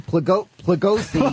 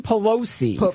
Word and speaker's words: Pelosi: Well, our House Speaker Nancy Plegosi... I don't know how to pronounce her name. It's Nancy Pelosi first of all.